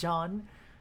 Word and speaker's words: Zeon: Their nation of Zeon is pronounced Jean.